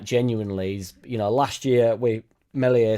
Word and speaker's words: Meslier: Like, genuinely, last year with Meslier, silent S, he got us out of a sticky situation.